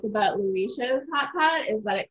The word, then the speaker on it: Liuyishou: So it's Lu and then E show. Like Liuyishou. Liuyishou, yeah.